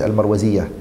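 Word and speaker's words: المروزية: Karima was her name, Al-Marwaziyyah. That's the correct way to say it, Al-Marwaziyyah.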